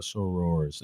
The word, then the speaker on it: sorors: Like that shout out to your sorors.